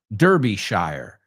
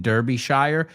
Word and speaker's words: Derbyshire: The second one is where they started, Dronfield, Derbyshire. Well, americanos dicen Derbyshire, ellos lo pronuncian shire, Derbyshire.